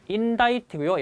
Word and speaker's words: indict: 그 다음에 지난 시간에 공부하셨던 얘는 발음이 indict고요.